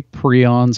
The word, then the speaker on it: prion: word of right but a lot of textbooks actually have the pronunciation in there and they say p r e e that's how it's prion interesting okay prions anyway